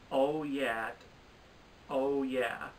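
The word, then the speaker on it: OYAHYTT: Ralph Breaks the Internet, Oh Yeah, I think that's how it's pronounced. It's spelled O-Y-A-H-Y-T-T, but like when I listened to the song, they were like, oh yeah, from Sorry to Bother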